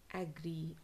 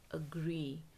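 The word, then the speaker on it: agree: People pronounce it एज एग्री. I don't एग्री, wrong. I don't अग्री, the correct pronunciation is अग्री, अग्री, अग्री, नॉट एग्री. ठीक है, एग्री नहीं, एंग्री जैसे नहीं बोलना इस word को.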